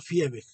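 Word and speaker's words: Viehweg: Theodor Fiebeck, la V en alemán se pronuncia como F.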